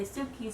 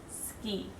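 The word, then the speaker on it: 好き: to be cute and they'll say Suki Suki Suki but in normal everyday conversation you'll probably hear it pronounced ski also if you've watched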